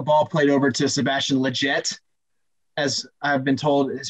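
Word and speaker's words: Lletget: a um a ball played over to sebastian legette as i've been told is how to pronounce his name um on the play hector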